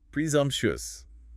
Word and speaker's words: presumptuous: Where's the stress? Stress on the second syllable. Presumptuous. Presumptuous. Presumptuous.